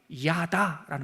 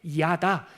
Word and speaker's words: 야다: 그 알자라는 말이 야다라는 말이에요. 이건 하나 기억해 놓으시면 좋습니다. 어려운 발음도 아니고 야다 야다라는 말이 알다라는 뜻이에요.